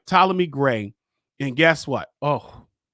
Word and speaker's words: Ptolemy: I was ready to say Ptolemy, but the P is silent. All right. Ptolemy Gray.